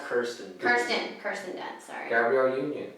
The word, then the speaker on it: Kirsten: So it is Kristen Dunst and what's her name? Wade's wife. I think it's pronounced Kirsten.